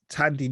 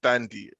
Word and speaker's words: Thandiwe: So, British actress Tandy Newton. Randomly, I actually didn't know her name had a W in it. I think it's pronounced Thandy, but Thandy. Yeah, I think it's pronounced that way.